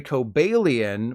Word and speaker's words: Cobalion: Cobalion is actually Cobalion, while Virizion is actually Virizion, like the phone company.